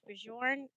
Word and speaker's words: Bjorn: all the time ahead so it's Bourn well there is necessarily a wrong way to say it just because it my name is pronounced differently depending on whether you're in the US or in Europe one says Bjorn the other says G okay and your last